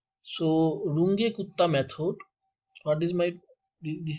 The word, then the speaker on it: Runge-Kutta: So friends, here I discuss third order Runge-Kutta method. This formula is third order Runge-Kutta method. So friends, I write some order of the Runge-Kutta method, that third order Runge-Kutta, yeah, Range-Kutta, different pronunciations, but no problem.